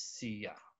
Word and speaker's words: siya: yes siya and SIA the correct way to say it is see ya yes not sure because that's American icing